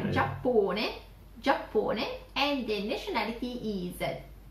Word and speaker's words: Giappone: I guess you don't use a J anyway in the Italian alphabet. So you change it with a G, E. Giappone.